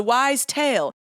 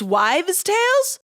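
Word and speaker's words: wives' tale: wrong my entire life wives with a V not wise with an S oh my God I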